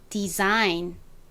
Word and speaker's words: design: 조금 주의하셔야 될게 있어요 s는 대부분의 경우 소리가 나지만 몇몇 경우에는 스소리가 나기도 합니다이 단어에서처럼 앞에 de가 오고 뒤에 모음이 아이로 오는 경우 대부분 s는 소리가 나는데요 그래서 여기서는 design이 아니라 디자인 이렇게 지유에 가까운 발음이 됩니다 디자인 여러분이 디자인 굉장히